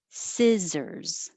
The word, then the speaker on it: scissors: 14, scissors. Remember to keep your tongue a little lower. If it's too high, it'll sound like C, Caesars. So si, keep it more flat, scissors.